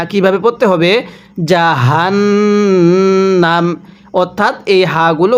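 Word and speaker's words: جهنم: জাহান্নাম। অর্থাৎ এই হাগুলো উচ্চারণ করার সময় আপনি মুখে একটু আওয়াজ করবেন। গলার মধ্যে একটু আওয়াজ করে পড়লে হাগুলো সহিহ শুদ্ধ উচ্চারণ হয়।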